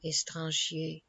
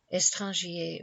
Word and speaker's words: étranger: Étranger was probably pronounced as of 2 syllables only, but it is difficult to make this line scan.